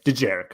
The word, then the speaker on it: Dejarik: I can't pronounce it. Was that famous D apostrophe Jarek. Yeah, Dejarik.